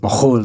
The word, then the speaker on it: McKhool: But actually, McKhool would have been pronounced Mahol in Kafarmishki, Lebanon, where my ancestors are from.